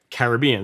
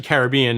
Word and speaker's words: Caribbean: were the carib indians so that's why like caribbean so it's actually caribbean not caribbean but i mean either pronunciation is accepted but if you are from